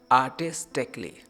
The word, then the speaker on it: artistically: ए silent नहीं है, reduce किया गया है, रिडक्शन दी गई, कम खींचा गया। सो हम कहेंगे आर्टिस्टिकली।